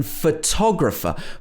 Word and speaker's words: photographer: schwa photography or photographer in the in photographer both the first o and the final er are pronounced as a schwa photographer photographer two schwa in this so you have to